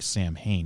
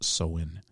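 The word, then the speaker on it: Samhain: the ancient Celtic Festival of soen which is spelled like Sam Hayne is M ha a i n but it's actually pronounced soen the Kels believed that Halloween known then as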